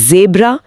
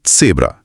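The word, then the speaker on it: Zebra: German Z की ध्वनि अंग्रेजी के जेड जैसी नहीं होती बल्कि ये हमेशा की ध्वनि होती है। जैसे पिज़्ज़ा के बीच में या पुट्स शब्द के अंत में आती है। अक्षर का नाम है सेट। इसीलिए जिब्रा बन जाता है सेब्रा जाइट समय बन जाता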